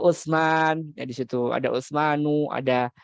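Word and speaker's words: عثمانُ: Ya, bacanya adalah harokat biasa bukan tanwin. Sulaimanu. Ada Utsman, ya di situ ada Utsmanu, ada Salmanu, ada Maryamu, ya, nggak boleh Maryamun, nggak boleh Maryamu.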